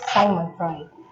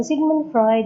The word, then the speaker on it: Sigmund Freud: This is again Sheena Maria Pad, and I will be discussing to you Sigmund Freud, and other pronounce it as Simon Freud. So Sigmund Freud is the father of psychology as well as the father of psychosexual theory of development.